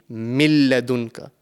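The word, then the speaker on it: مِن لَّدُنكَ: So the correct way to pronounce this word over here will be min ladunka. We are completely joining the mim into the lam mushaddad.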